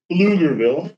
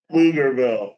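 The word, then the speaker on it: Pflugerville: Um, don't try to say the Blugerville. B is silent. The B is silent. Thank you so much for helping me out with that. Flugerville.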